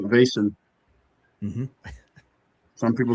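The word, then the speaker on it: Vaesen: Uh I call it Vasent. Some people say Vassan. I'm not I'm not Swedish, so I call it Basin.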